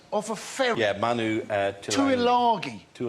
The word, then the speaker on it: Tuilagi: Yeah, Manu Tuilagi. Tuilangi. Well, there's no end in there. If you want to... No, it's his pronunciation of it, actually.